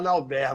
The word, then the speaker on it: Nalbert: eu levei sempre uma vida inteira para fazer as pessoas entenderem que meu nome era Nauber, mas agora acho que parece que Todo mundo acertou, a pronúncia francesa.